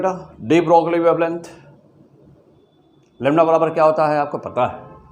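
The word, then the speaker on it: de Broglie: हाँ, तो main basic formula डी ब्रोगली wavelength का मेन बेसिक फार्मूला क्या है? डी ब्रोगली कहिए प्रोनाउंसिएशन या चाहे डी ब्रॉय कहिए, तो जनरली हम लोग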